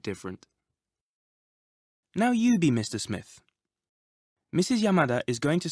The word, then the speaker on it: Smith: Did you notice the Japanese pronunciation of the name Smith? Smith. Japanese doesn't normally allow for double consonants like SM, sm. You usually need to put a vowel between them.